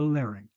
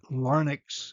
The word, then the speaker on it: larynx: fernx close to the larynx. Notice the pronunciation of these words. Larynx is correct. Lex is not. Fernx is correct. It's not called the farx.